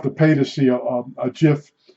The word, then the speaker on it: GIF: from um America online it's G GF but pronounced GIF and those became uh